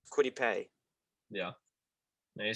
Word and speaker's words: Kwity Paye: Sorry if I mispronounced Kwity Paye.